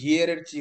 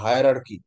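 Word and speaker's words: hierarchy: আচ্ছা হায়ার আর কি, এটার উচ্চারণটা কিন্তু সম্পূর্ণ আলাদা, এটার উচ্চারণ করলে হিয়ের এর চি হয়, না এটা হিয়ের এর চি না, এটা হায়ার আর কি।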